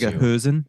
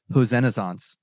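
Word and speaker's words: Hoesen: what was the pronunciation is it who's or hosen because in the episode you said hen in the episode before but people still say hosen so I think in the Dutch pronunciation it's like somewhere in between the like hosen yeah I'll say hosen uh he had 311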